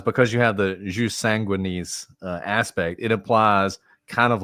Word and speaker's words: sanguinis: of jus soli and what is called jus sanguinis.